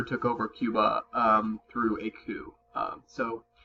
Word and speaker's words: coup: here that's not pronounced coop like a chicken coop or a car you know call it coop this is called coup even though it has a P in it basically a coup is